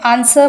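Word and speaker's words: answer: Next one इज देखिए आंसर, अब यहाँ पे आंसर बोलते हैं हम तो आंसर में डब्ल्यू जो है वो साइलेंट रहता है।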